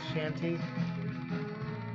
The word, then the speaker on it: chanty: I say chanty, sea shanty. They did spell it with a CH though.